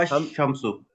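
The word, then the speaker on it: الشمس: अल हम अशम्सो। अल शम्सु अशम्स। पढ़ेंगे या अशम्सु पढ़ेंगे? अश अल अशम्स। शम एल साइलेंट है।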